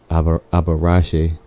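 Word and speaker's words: Abarrach: It's actually pronounced different. It's like Abarache. Avarache?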